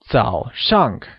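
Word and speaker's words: 早上: early morning will become T shank where T is morning and shank is early Z is said with a falling Rising tone while shank carries the falling tone also known as the fourth tone can you try that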